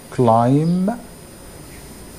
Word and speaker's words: climb: have I don't element climb B is silent climb a tree climb a